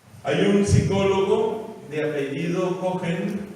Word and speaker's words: Cohen: Hay un psicólogo de apellido Cohen, se escribe C-O-H-E-N, me parece que es Richard, pero el apellido sí estoy seguro, C-O-H-E-N, Cohen.